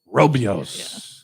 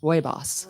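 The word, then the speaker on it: Rooibos: made from the leaves known as red bush robios awesome and I looked this up and I watched a video it's actually pronounced Roy bossy boss Roy boss yes so you got four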